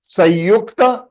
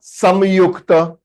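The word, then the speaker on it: संयुक्त: They come under the category called Sanyukta Swaraha. Sanyukta या Samyukta. You can pronounce in both the ways.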